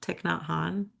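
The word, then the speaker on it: Thích Nhất Hạnh: I've been listening to I feel like I say his name wrong every time. Thich Nhat Hanh.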